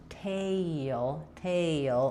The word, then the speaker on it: tail: In a tail, I have this little y sound connecting, and then my sound here, tail. So it's not really two syllables, it's not tail, but we go through all of those vowels and all of that motion to say the A here versus the here, tell and tail.